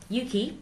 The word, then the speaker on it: UKIE: Okay, so UKIE, as we pronounce it.